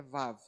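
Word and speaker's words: ו: Mas aqui a tradução, a pronúncia, perdão, é Vav, né? Mas ela pode ter o som de V ou U, dependendo da palavra.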